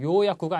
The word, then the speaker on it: 予約: 다음에 요약구 자, 앞에 있는 요 발음이 짧습니다. 요약구가 아닙니다. 자, 요약구 그러면 예약이라는 말입니다.